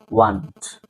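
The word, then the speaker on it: weren't: ওয়ার নটকে সংক্ষেপে করা হয় ওয়ান্ট, ওয়ান্ট। যেমন আমরা বলি আই ওয়ান্ট টু বাই a book, ওয়ান্ট, WANT, ওয়ান্ট, ওইটার মতো উচ্চারণ হবে, এটা সংক্ষিপ্ত রূপ ওয়ান্ট।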